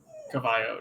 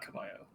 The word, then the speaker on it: Cavallo: at uh castillo caballo cavallo not kamayo no oh yeah i guess the v does pronounce like a b anyways uh c to